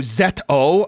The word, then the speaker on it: ZO: Oh, Z O. Oh. Well, thank you for telling me. I do like having my pronunciations correct.